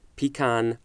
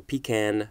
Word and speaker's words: pecan: fond of as in adores pecan or pecan pie depending on how you want to say that I also adore pecan